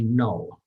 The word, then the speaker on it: know: si si por ejemplo tenemos un k y un n Entonces no se escucha la k i no I know Ajá se escribe con